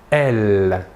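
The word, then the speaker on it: elles: Et le pronom personnel sujet féminin de la troisième personne du pluriel est « elle ». Même chose que pour le masculin, la S finale ne se prononce pas.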